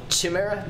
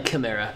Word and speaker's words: chimera: little baby arms oh I call it Sumaira because I'm friend named Tamara and he just goes by these it's the same spelling but I'm pretty sure it's pronounced as you're typing it chimera actually I don't even think about that yeah definitely chimera but I need a